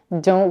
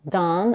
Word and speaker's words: Don: That's why many people pronounce Don and Dawn the same way.